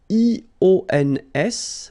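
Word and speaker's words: ions: So now let's see nous, and nous goes like I-O-N-S, okay? And it should be pronounced ion. Remember, final S is not pronounced.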